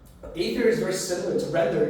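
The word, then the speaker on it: Aethir: going to be ather a t h and it's spelled a e t h i r a e t h i r ather the tier is a like alltime high you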